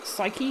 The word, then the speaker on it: psyche: try and break your psyche lock. Which, thanks Lauren for reminding me I was mispronouncing psyche. I was saying psych, but it's psyche.